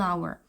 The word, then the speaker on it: hour: eracer on umbrella on hour 이런 경우는 h 이제만 발음 자체는 아로 갔잖아요 그래서 이게 무음이 그래서 발음이 on가 돼요 중요하고요 그다음 특정하지 않은